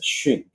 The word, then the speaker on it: Xun: My name in English is pronounced Xun. You actually correct that in Chinese, it's Xun. Yeah. But when I came to North America, it became very hard for people to not pronounce Xun. So I just tell people to pronounce it like Xun, like xylophone.